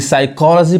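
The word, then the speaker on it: psychology: अब यहाँ पे देखिए, यहाँ पे जो स्टार्टिंग में जो पी आ रहा है वो पी नहीं पढ़ाएगा, यानी साइकोलॉजी पढ़ाएगा, साइकोलॉजी। अब यहाँ देखिए, यहाँ पे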